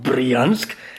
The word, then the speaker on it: Bryansk: on line we are now in Bryansk and that is how you pronounce it in no Russian accent because I googled it